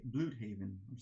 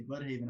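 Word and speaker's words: Blüdhaven: uh oh my yeah but that's pronounced blue blue haven is it blue haven every time i say bloodhaven i'm like this is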